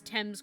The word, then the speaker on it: Thames: gonna be so difficult to pronounce Thames correctly because I feel like it should rhyme but it doesn't good afternoon sir uh